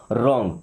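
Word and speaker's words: wrong: यहां पे W silent है। ओके? इसको पढ़ते नहीं लिखते हैं। रॉन्ग।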